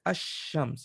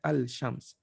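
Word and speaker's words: الشمس: pronouncing the alif lam what happens in the shams you say hashems you don't say al-shams so this is one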